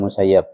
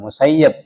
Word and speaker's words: Ibn al-Musayyib: Perhatikan Musayyib, jangan baca Musayyab. Walaupun di harokatnya di kitab-kitab hadis itu ada Musayyib bacanya, itu kata Syekhuna Ismail Yamani, la taqra'u Ibn al-Musayyib walakin iqra'u Ibn al-Musayyib.